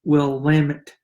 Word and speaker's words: Willamette: I've heard a lot of different people pronounce it a lot of different ways, but it's Willamette.